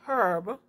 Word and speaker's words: herb: is silent such as herb which sound like it begins with e however with sound like